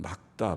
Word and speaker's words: 맑다: 고 표현합니다 아 마에다 리 울 기억 받침이 담은 막다 발음한다 말 딱 해가 지금